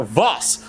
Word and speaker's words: Voss: It is Alexander Voss, not Vob, as I previously thought.